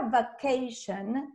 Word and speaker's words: vacation: En la palabra vacation, el sonido de la primera A es A, va, y el segundo sonido de la A es ei, ¿de acuerdo? Y tengo el patrón shen al final, que encima se escribe T-I-O-N, o sea, nada que ver con shen, ¿de acuerdo?